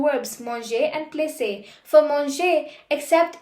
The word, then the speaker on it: placer: That's because we don't want the pronunciation to be plaqué but placer.